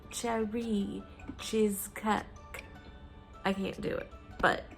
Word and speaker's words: Cherie Cheezcake: way cherry cheesecake um it's meant to be said like with a really terrible french accent like cherry cheesecake i can't do it